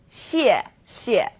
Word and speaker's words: 谢谢: You can think of it kind of like the word she and 谢. Not too hard, right? 谢谢.